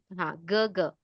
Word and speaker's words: 哥: Elder brother 哥 is Gaga. Gaga, Gaga. 哥， right? Gaga.